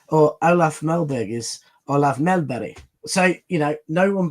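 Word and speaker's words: Mellberg: So, no English commentator has ever made an effort or or Olaf Melberg is Olaf Melbury. So, you know, no one bothers to learn how to pronounce things and and he he took the time and he did that.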